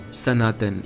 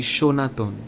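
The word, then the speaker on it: সনাতন: And when you write the word in Bengali, you also use the word Sanaton. Sa. But the pronunciation of the word happens to be Shonaton. Sanatan.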